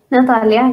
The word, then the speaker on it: Natalia: uh and did I say your name right Natalia Natalia yes oh good I said it right yeah